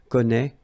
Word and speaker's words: connaît: Well, you pronounce these three forms the same way. Okay, connaît, and then connaît.